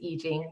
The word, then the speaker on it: Yi Jing: It is I Ching, but I say I Ching cuz when I speak English, I notice if I say I Ching, I lose some people.